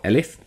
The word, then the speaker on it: elif: Else, if, or elif, as it's pronounced in this syntax, or as it's written in this syntax, if the number is less than 1, it's outside of that range.